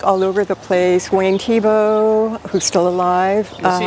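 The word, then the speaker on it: Thiebaud: over the place wayne tebow who's still alive is he a football player no actually his name is spelled t-h-i-e-b-a-u-d and he's primarily up in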